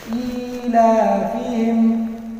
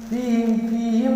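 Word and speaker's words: إيلافهم: کو بھی کھینچیں گے۔ ایلافہم، فیہم نہیں۔ دیکھیے آپ نئے قرآن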